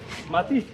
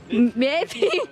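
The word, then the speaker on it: mety: Mati? Meti. Už viem po madagaskarsky. Mat means tight. Mat tight, but met, okay? Meti.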